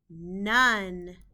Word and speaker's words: none: the word is large the o in this word is making a short u sound and we just need to remember that by heart the e in this word is not making a sound and we need to